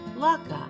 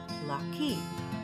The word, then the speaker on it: latkes: it again asked sam we say lakka but some people say lucky i've heard that both ways are correct there are good